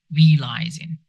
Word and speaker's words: realizing: Realizing is pronounced with E and then lie. Realizing, right?